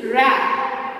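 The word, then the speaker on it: wrap: Next word is डब्ल्यू आर ए पी रैप, देखो रैप क्या sound आया आगे, रैप। तो यहाँ पे कौन सा लेटर साइलेंट हुआ, डब्ल्यू।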